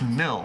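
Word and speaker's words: Mille: Uh so, Jimmy bluffing in the chat saying, "Charlie, it's pronounced Mill, like Meek Mill."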